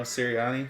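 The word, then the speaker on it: Sirianni: I don't even think how do you say the coach's name Nick serani serani I was going to put a t in there for some reason Tino or something you know serani yeah I don't even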